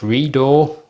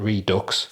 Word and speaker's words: REDUX: these are from the, I think it's pronounced Redo or Redo. I don't think it's pronounced the way it's spelled, Redux.